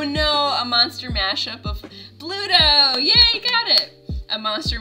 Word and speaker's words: Bluto: It rhymes with Pluto. It's going to be Barlight. Oh no, a monster mashup of Bluto.